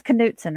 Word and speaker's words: Knutson: It's Kudson, right? With a you got to pronounce the K.